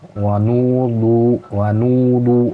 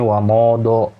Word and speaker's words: wanudu: Nah, ini tidak sempurna dalam mengucapkan dhammah ya, wanudu dibacanya wamodo misalnya gitu ya.